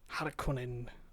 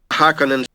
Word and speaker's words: Harkonnen: get the shore name harakunen so let's listen to the correct pronunciation hakkonen i think hakkanen hakkanen yeah i kind of rolled the r but i think that's pretty close but before we judge